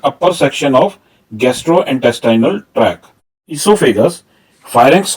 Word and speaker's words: oesophagus: ईसोफेगस के spelling कुछ जगह पर ई से शुरू हो रहे हैं और कुछ जगह पर ये OESOPHAGUS लिखे जाते हैं।